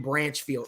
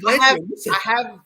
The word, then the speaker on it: Blanchfield: I'm going Branchfield. Or you didn't know how to pronounce her last name ever. You just said Branchfield. You said Branchfield. No, okay. I said Blanchfield.